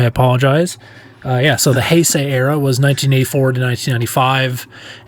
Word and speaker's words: Heisei: bit of followup on the last show I pronounced this era incorrectly is the it is the uh I said highy era or it or highi but it's actually hyay uh so I I apologize uh yeah so